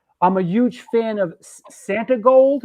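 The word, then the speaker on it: Santigold: I'm a huge fan of Santi Gold. Am I pronouncing that right? Santi Gold. Yes, and love Chuck's drum work on her debut album.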